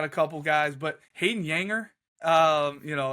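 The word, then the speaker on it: Juenger: defab Ball's got a couple guys but Hayden yanger um you know it's pronounced or it's spelled j u n g r i called him Jer forever but yeah Hayden yanger was one of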